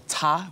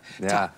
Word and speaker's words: Ta: But about my work, the title of my work is Da, or Ta. It's spelled T-A.